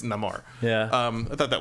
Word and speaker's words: Namor: right um so okay his name is Namor except when he says it and it's Namar yeah um I thought